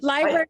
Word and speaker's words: LBRY: Just so folks, sorry, just to clarify, when we say library, we're not meaning like the book, like public library. We're talking about the library is spelled like LBRY, right?